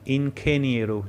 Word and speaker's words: ingeniero: Now focus on the correct pronunciation, ingeniero. G before E and I is like KH, kh.